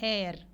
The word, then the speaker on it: heir: We see here h is silent and an honest man, an heir.